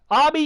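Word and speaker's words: Ami: that they're kind of like say army or amy but i there is more amy but i think it sounds like army because of the you know the the how the name is how it's spelled right army baby you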